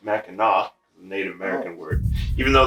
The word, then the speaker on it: Mackinac: bridge very famous bridge it's not it's actually pronounced mackinac native american word even though that's how it's